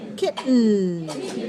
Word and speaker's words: kitten: uh kitten kit um we have a glottal stop here we're not making that we're not making a vowel sound for the letter e we're just going for the T to the end leaving our tongue in the position for t and n and changing the sound from from oral to nasal kitten but our tongue does not move it stays on the gum Ridge so feel look at